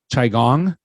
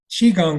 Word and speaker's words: qigong: quite a bit um chai gong am I pronouncing it right Qigong like cheeseburger oh dang it was